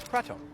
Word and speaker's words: Kratom: The main ingredient inside this bottle is Kratom, sometimes pronounced Kratom.